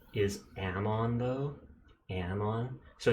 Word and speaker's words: Amon: cracker it's true the neur mat the demon pronunciation is Amon though Amon so it's demon as if gross